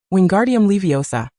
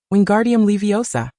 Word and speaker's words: Wingardium Leviosa: Fearing for her own safety and quickly pointed out his mistake, you mispronounced the incantation. You must elongate and articulate the gar and leiosa properly.